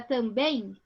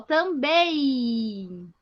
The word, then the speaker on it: também: Esse M ele fica com som de I, ó, também.